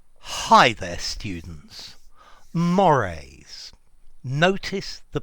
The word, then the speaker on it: mores: Mores. Notice the pronunciation. Mores.